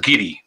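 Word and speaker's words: Garioch: you know i mean we have a place up here um called ghiri which is actually spelled gary but every time this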